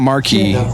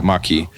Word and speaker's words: Maquis: the the the maquis i don't know how that word is pronounced maki well it's not marquee it's not marquee it's it's yeah maki so he's in part